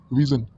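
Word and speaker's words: vision: एन विजन ठीक है विजन इस साउंड देखिए विजन तो ये हो गया विजन तो जन ज स और ज की थोड़ी साउंड आ रही है तो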